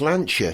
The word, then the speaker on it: Lancia: Yeah, well, it's the same rule as Lancia. CI in Italian is pronounced ch, so it's Ricciardo.